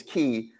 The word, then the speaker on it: Quay: Yeah, I've heard it pronounced key or something, but quay.